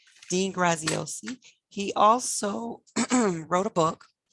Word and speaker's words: Graziosi: it's called the better life journal by dean grazioso graziosi i always say his name wrong dean graziosi he also wrote a book the under and